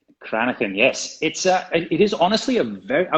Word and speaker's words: Cranachan: It's called Cranachan. Cranachan, yes.